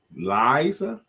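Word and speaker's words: Lyiessa: Liza? L-Y-I-E-S-S-A. L, the Y is silent. I-E spells I. S-S is S and A.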